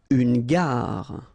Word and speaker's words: gare: Une gare. Okay, remember when you get these G and A together, the sound is g, ga, ga. Une gare. Final not pronounced.